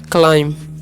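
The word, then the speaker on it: climb: आई एम हो जाएगा क्लाइम B silent होता है ठीक है ओ प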